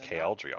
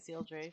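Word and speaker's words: Cealdri: but wait that's actually it's pronounced kldre on that slice right but yeah it is uh and then but I'm still pronouncing it seal Drake for this these are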